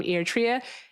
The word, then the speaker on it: Eritrea: She's our friend that is currently in Libya, but originally from Eritrea.